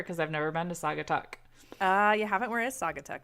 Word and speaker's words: Saugatuck: you're going to correct me on how to pronounce this. maybe. Saugatuck Brewing? Sagatuck. Saugatuck. Yeah, it's Sagatuck.